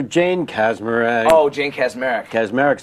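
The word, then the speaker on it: Kaczmarek: Ashley mil or Jane casmer oh Jane casmer casmer is how you say it hot dog or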